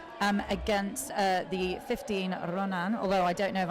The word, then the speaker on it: Ronin: pinky do you know how that team is pronounced um 15 Ronin so oh my God I almost did it